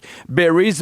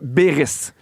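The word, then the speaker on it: Beyries: Ça s'écrit B E Y R I E S mais ça se dit Beris.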